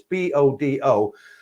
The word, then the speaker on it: Bodø: I worked in Norway for a time, super nice, but it was in a place called Bodø. I probably pronounced it wrong. It's Bodo, and it was above the Arctic Circle.